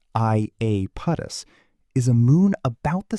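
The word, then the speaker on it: Iapetus: Aapotus, pronounced I apus, is a moon about the size of Argentina.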